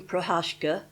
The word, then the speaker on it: Procházka: I have a different pronunciation for Prohashka I'm calling her. She's Baroness Pauline Prohashka and she was an